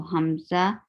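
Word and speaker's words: همزة: first letter was hamza so hamza is pronounced from lothra lower throat and the name in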